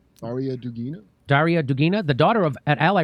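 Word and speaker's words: Darya Dugina: and all this stuff about her most recently dara dugina how do you say that name arya dugina daria dugina the daughter of an ally russian president vladimir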